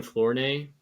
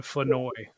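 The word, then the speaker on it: Flournoy: The interesting name on the same team is Ryan Flor or Flower. Floweroy, I don't know. 3600 Ryan Fenoi. There's no R apparently. There's there's definitely an R. There's not in the pronunciation.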